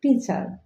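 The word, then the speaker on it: teacher: আমরা বলে থাকি, আমরা উচ্চারণ করি টিচার। টিচার অর্থ শিক্ষক, বাট এটার কারেক্ট প্রনাউন্সিয়েশন হবে টিচার। টিচার, TEACHE। আর এর উচ্চারণ হবে না।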